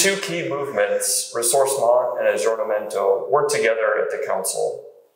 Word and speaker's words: aggiornamento: a second important movement, aggiornamento. Again, pretty good pronunciation. Well done. That's perfect.